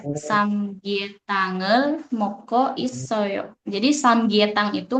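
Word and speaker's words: 삼계탕: Nah, jadi dibacanya samgyetangel moko isoyo.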